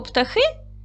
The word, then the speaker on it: птахи: Слова ведмідь, тваринка, зайчик, білка, їжак, а слово птахи зробіть звуковий аналіз. Давайте перевіримо. Слово птахи. Поділимо на склади. Птахи. Наголос падає на другий склад.